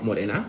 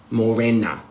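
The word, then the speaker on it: Mōrena: Not Morina. or Morena. I could never learn to say Morina. Morena. Morena.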